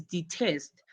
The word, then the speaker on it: detest: My first verb is loves and my second verb is detest. But the stress is on test because detest is a two-word syllable.